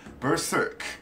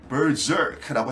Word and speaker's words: berserk: 그러니까 정확한 영어 발음은 Berserk, Berserk입니다. 자, 그리고 S자를 Z로 바꿔 쓰기도 합니다. 가끔씩 Berserk라고 해도 돼요.